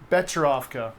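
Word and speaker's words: Becherovka: So it's an Here's herbal the pronunciation. Bekarovka. All right. Close. I was saying- I was saying Bekarovka.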